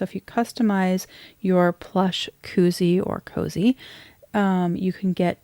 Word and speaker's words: koozie: I don't really know if they call it a koozie or a cozy. It's spelt more like koozie, but to me it's cozy because it has like this beautiful soft interior to protect your pens.